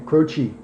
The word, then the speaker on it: Croce: They were going to spell it phonetically, Crochee, so it looked like almost Indian, Right. like a Native American name, Croce.